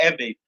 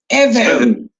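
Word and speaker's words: Ewe: Again, we are Eve. Eve. Yeah, see, it's not spell it. E-W-E, you know?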